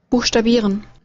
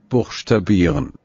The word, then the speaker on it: Buchstabieren: বুকসটা বিরেন, হ্যাঁ, এখানে কিন্তু শ উচ্চারণ হচ্ছে, বুকসটা বিরেন। আপনারা যদি এখান থেকে শুনেন তাহলে ওইটাই দেখবেন। Buchstabieren. এই যে বুকসটা বিরেন, হ্যাঁ, Buchstabieren.